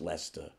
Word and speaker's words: Leicester: Leicester Square come on guys of course it's pronounced Leicester it's a little bit of advice to Americans